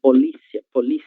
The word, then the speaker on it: polícia: Então, a sílaba que antecede a cia é a sílaba li, que é acentuada graficamente, logo é uma palavra paroxítona.